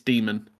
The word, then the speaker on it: Daemon: pronounced Daemonhunters or Yes. Daemonhunters? No. It's Demon. Okay. It is Demon.